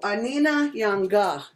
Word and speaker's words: Anina Yanga: So Anina Yanga, if you see right here, and you see how it's spelled, how it's said, A-ni-na Yanga. Anina Yanga.